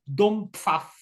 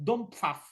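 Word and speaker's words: Dompfaff: por vezes também é conhecido pelo nome de Dom Pfaff. Dom Pfaff, como é que isto se escreve? D-O-M-P-F, F de Faro, A-F-F. Portanto, Dom Pfaff.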